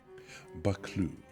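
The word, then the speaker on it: Buccleuch: And the video I watched is 59 seconds long, and he finally gets to it at about the 30-cond mark. Bakloo.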